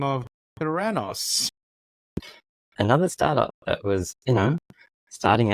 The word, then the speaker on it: Theranos: it's closest to Thanos, so Theranos.